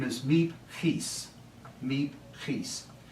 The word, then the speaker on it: Miep Gies: And her name is Miep Gies. Miep Gies. If you have a sore throat, it really helps in pronouncing Dutch words, right?